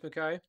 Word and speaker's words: Mukai: today we're joined by brent mckay that i said it right right yeah you said